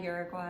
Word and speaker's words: Uruguay: Uruguay. I say Uruguay cuz that's how you say it in Spanish, but I don't know